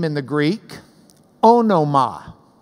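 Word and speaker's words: ὄνομα: name now this word name in the Greek oh no ma oh no ma if you're pronouncing it like a love a kite anima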